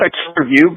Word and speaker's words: Akilavue: the band is it's called aiew but it's spelled a k i l a v u e and uh you also